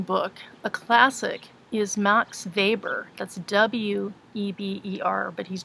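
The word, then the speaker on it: Weber: another very interesting book a classic is max Faber that's w/e ber but he's German so it's pronounced neighbor um max favors classic book the Protestant ethic and the spirit of capitalism now vapor doesn't really fit in with either functionalist or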